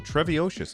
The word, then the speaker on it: Treviocious: Ooh, Treviocious. I think I got it. I think that's how you say it. Treviocious. Yeah, like supercalifragilisticexpialidocious.